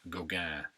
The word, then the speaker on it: Gauguin: one today slide number two this is Paul Gauguin Paul Gauguin Goggan is G au Guin G au Guin pronounced Goga and this is called Jacob wrestling the angel